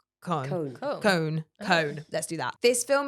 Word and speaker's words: Cohen: It's very hard to say his name with an English accent. It's Cohen. It's Cohen, but without the E. So it's like Cone.